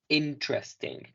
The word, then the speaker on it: interesting: Y esto se pronuncia como tal. Ting. Interesting.